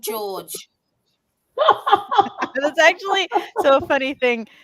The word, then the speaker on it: Jorge: I mean, it's spelled like Jorge, but he says his name is George.